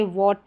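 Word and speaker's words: what: जैसे वॉट है तो H का उच्चारण नहीं हो रहा, वेयर है, वेन है, व्हील है, विच है, वीट है, वाई और वाइट, इन सभी में WH के बाद में AEI या Y लेटर है, तो यहाँ पर H का उच्चारण नहीं हो रहा है, ये साइलेंट रह रहा है, इसको हम प्रोनाउंस नहीं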